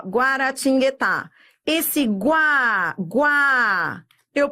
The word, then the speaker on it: Guaratinguetá: Adriana, Guaratinguetá. Ó, Guaratinguetá. Esse guá, eu pronuncio, não é? É, você pronuncia. Você pronuncia esse U.